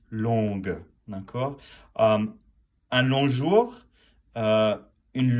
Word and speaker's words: longue: L-O-N-G, you do not pronounce the G unless it's the feminine, and then it's longue, d'accord?